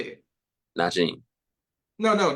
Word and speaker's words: Najeem: Najeem.